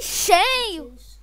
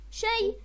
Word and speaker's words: Shay: Come on, just say Shay! Shay! S-H-A-Y! It's pronounced.